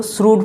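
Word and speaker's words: shrewd: द श्रूड, देखो इसको क्या पढ़ते हैं, इसको श्रूड पढ़ते हैं, आप इसको ध्यान देंगे, ये जो वर्ड है इसका प्रोनाउंसिएशन थोड़ा सा अलग है, इसको श्रूड पढ़ते हैं।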